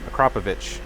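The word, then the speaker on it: Akrapovič: from the last video Marco says that you are pronouncing acropovic the right way how are you say it again yeah a crop acropovich you're so I guess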